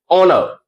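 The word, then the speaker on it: honor: Start हो रहे हैं, लेकिन यहां एच साइलेंट होता है प्रोनाउंस करने पर। जैसे हम लोग इसे पढ़ते हैं आवर, ओनेस्ट, ऑनर, एओ।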